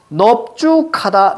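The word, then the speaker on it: 넓죽하다: 자, 넓은 무조건 그냥 널 이렇게 발음해야 되는데 두 개. 넙죽하다, 넙둥굴다.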